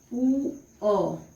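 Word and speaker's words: poor: और ये आर है वो साइलेंट रहेगा तो आप उसको ऐसे भी लिख सकते हैं ऊ अ, जू अ।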